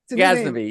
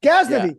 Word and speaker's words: Ghaznavi: Ghaznavi, yeah. Ghaznavi.